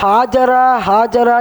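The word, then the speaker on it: هاجر: அதுபோன்று ஹாஜர் அலைஹிஸ்ஸலாத்து வஸ்ஸலாம் அவர்களை புராக்கில் கூட்டு வந்தார்கள் என்ற 2 அபிப்பிராயம் இருக்கின்றது. மற்றொரு விஷயம், நாம் எல்லாரும் ஹாஜரா என்று சொல்லுவோம். ஹாஜரா என்பது தவறான ஒரு உச்சரிப்பு. ஹாஜரா கிடையாது, ஹாஜர்.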